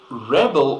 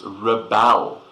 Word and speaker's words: rebel: Rebels overthrew the government Rebel also has a verb meaning but this word we pronounce differently it's Rebel not Rebel so Rebels if they